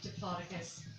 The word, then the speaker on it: Diplodocus: And he turned around to me with a genuine look of disgust on his face and was like, it's actually pronounced Diplodocus, you spaz.